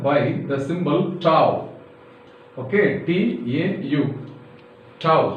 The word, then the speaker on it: tau: Okay, T-A-U. Tau. How to spell it is T-A-U, tau.